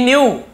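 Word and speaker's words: knew: अब क्या हुआ, ही न्यू, वह जानता था, नो, के एन ओ डब्ल्यू, नो यानी जानना, उसी का सेकंड, न्यू जानता था, ठीक है, के साइलेंट होता है, न्यू, वह जानता था, दैट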